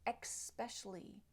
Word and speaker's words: especially: will hear people say especially especially and they're adding a a k or an X sound at the very beginning X especially but this is not correct and if you look